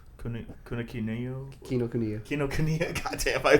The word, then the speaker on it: Kinokuniya: Is that how you pronounce it? I keep. Oh yeah. Kinokuniya, Say and with then confidence.